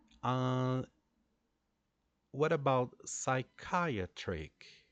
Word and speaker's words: psychiatric: alone the fact that we don't pronounce the the P sound here we start the pronunciation with the S sound psychiatric good and then we